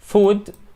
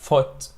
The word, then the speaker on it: foot: ولكن لما بنقول O برضه اهي مش food بقى، لا foot. بننطقها foot. It's a low vowel or it's a short vowel which is sound.